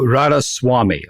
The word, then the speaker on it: Radhaswami: It's Radhaswami, like the Swami.